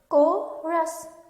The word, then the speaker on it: chorus: chorus of bleating sheep so its chorus the sound is silent korres of bleeding as he